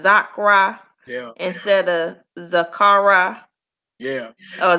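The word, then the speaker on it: זכרה: So you wouldn't say Zakara. Right. You wouldn't say Shamaha. Right. Shama. Yeah. Shama. Zakra.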